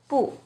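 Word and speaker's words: 不: always the fourth tone bu when bu is followed by a character with a fourth tone it changes to the second tone Bo for example when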